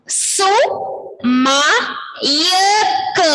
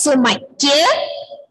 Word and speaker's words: സുമയ്ക്ക്: സു മയക്ക് അപ്പോഴാണ് ക്യെന്ന് നമ്മൾ ഉച്ചരിക്കുമ്പോ യായും കൂടി കേക്കും. സുമക്ക് എന്നല്ല നമ്മൾ പറയാ, സുമക്ക്. പെരക്ക യായുടെ ഉച്ചാരണം കേട്ടുന്നില്ലേ, സുമക്ക്. സുമ എന്ന് പറഞ്ഞ ഒരു ഗേളാണ്. സുമയ്ക്ക് സിനിമ, സിനിമ.